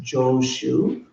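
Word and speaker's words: Jōshū: romanize it uh in Japanese that name is pronounced joosu um he's famous probably for the most famous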